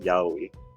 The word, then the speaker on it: yaoi: Also, it's pronounced yaoi.